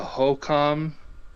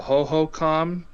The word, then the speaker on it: Hohokam: And they used irrigation and water management systems that are sophisticated, like the HOCOM or the HOHOCOM, I think it's pronounced, spelled HOHOKAM, in the southwestern United States, who built extensive canal networks to irrigate their crops in arid environments.